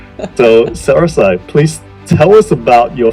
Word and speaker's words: SaraSai: Hi, today on Founders Go Naked, we have a very, very special guest, which is SaraSai Woods. Correct me if I'm pronouncing that That's incorrectly, perfect. SaraSai.